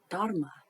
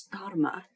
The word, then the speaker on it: Dharma: It's a Sanskrit word, and you're meant to say the H quite vigorously. I'm not too good at that. Sort of Dharma, sort of with that H sound.